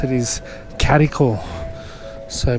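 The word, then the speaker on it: Gadigal: to BST I always used to always pronounce is gadal like making note to the G but apparently the best way to pronounce it is Catal so pronounce the G is the c wonder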